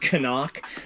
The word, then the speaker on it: CNOC: It's actually supposed to be pronounced Canuck, but I refuse to pronounce it like that. I say CNOC, and that's what it is.